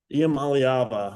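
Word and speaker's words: Iamaleava: Iamaliava.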